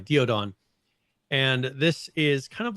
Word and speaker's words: Daeodon: Then they have the it's the Daeodon, right? I think that's the pronunciation. The Daeodon, or Diodon, sorry, Diodon.